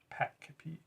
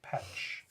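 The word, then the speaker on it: Pech: We were talking about how the Kroot homeworld, the name of the Kroot homeworld is pronounced Peck, and it's spelled P-E-C-H. That's what I wanted. I forgot. But Okay. But I had always pronounced it Petch.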